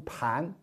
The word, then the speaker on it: 般: 就是这件事情很一般、很普通的般，这是多音字，在这会儿应该读盘。